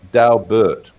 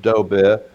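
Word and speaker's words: Daubert: and actually the family the dough Bert family they pronounce that Dow Bert right being a bit of a Frenchie I would say down but dough bear but I'm happy to go along with whatever is acceptable well I guess to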